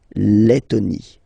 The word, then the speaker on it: Lettonie: So remember when you've got this E and then a double letter like that, T, okay, then you will have to open your E and it will become Lettonie.